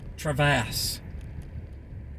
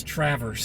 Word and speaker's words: Traverse City: Um, you know, they say Traverse, Travass, Travest. It's Traverse City, Grand Traverse County.